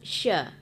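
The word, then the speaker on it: ش: sakah di situ kemudian pengucapan huruf sya sya itu di tengah-tengah lidah ya sya Ah coba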